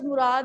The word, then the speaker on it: Murad: Murad also you can say, but Murad is the exact pronunciation, fine?